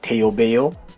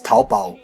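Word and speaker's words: 淘宝: Now if you do not know Chinese language, then you would just pronounce it the way Coop does, which is like Taobao. But this is being a Chinese site, it's Taobao, okay?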